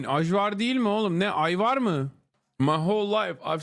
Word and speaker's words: Ajvar: And for the chatters correcting me on the pronunciation, I don't give a fuck. That's how you say it in Turkish. Ajvar.